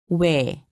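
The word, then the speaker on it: ㅟ: Imagine that you are trying to say oo and e together. Be sure not to pause in between pronouncing the two sounds. Repeat after me. way.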